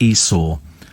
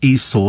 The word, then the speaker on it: Esau: I did because it's I saw Esau sitting on a seesaw that's what it that's